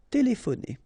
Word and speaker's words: téléphoner: Remember, P and H together will give you this F sound. Téléphoner. Téléphoner.